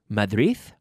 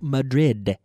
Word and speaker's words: Madrid: ma'am my the wreath no Madrid Madrid Madrid you need to seal that sound and pronounce that D the way it giveth the pronunciation that it deserves bad blood there's bad blood in Madrid bad blood okay pronounce those d's please repeat after me